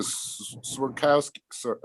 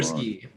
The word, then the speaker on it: Swirsky: for instance, the Swerkowski. Now I'm saying it wrong. Swirsky.